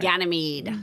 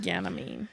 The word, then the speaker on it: Ganymede: Ganymede. Ganymede. There you go. That's how you pronounce it.